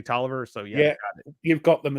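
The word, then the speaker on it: Taliaferro: it so yeah yeah it looks like talifero or Taro or something like that me it's actually toer so yeah you've got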